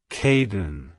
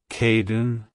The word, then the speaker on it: Kadin: pronounced as Caden Caden Caden to pronounce it correctly emphasize the k sound sound at the beginning and the didn't sound at the end keep the emphasis on the first syllable like hello Kaden goodbye Caden if you